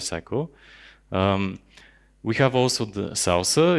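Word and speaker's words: SLSA: whole application life cycle we have also the salsa it's pronounced also even though the acronym is not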